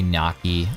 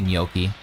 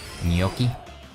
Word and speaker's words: gnocchi: Yoki what is Yoki oh oh sorry uh gnocchi it's G I think people pronounce it many different ways but the Italians would spell it that way some people say Naki or gnocchi or I've heard many people pronounce